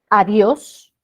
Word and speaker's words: adiós: Adiós. La sílaba tónica es Dios. Cuidado que digamos os. No es os, es Dios. Aguda que termine en S.